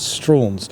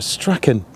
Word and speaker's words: Strachan: an Ulster Scot, although some local people pronounce it as Strauns. I'm not entirely sure why. It's something to do with the spelling, but as from my research, it is pronounced Strachan because of his Scottish, Ulster Scots origins.